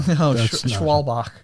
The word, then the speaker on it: Schwalbach: do you say our last name swashbuckler no schwalbach schwalbeck jennifer schwalbach smith which is kevin smith's